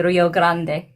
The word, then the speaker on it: Rio Grande: know how to say Rio Grande. No, they say they say Rio Grand.